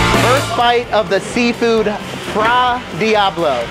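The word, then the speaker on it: fra diavolo: bite of the seafood fra Diablo that's the correct way to say it I'm going to start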